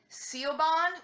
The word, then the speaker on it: Siobhan: Just like the name Siobhan, to an England-speaking, Anglo-reading person, the way Siobhan is spelled, it looks like Siobhan with a B and an H thrown in there, but it's Siobhan.